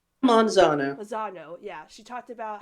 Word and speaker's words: Manzano: Manzano, yeah.